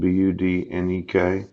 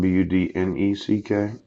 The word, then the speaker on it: Budnek: Now, if you didn't know, my name is spelled Budnek. Yeah. It's or C Budnek. Yeah. But it's not Budneck.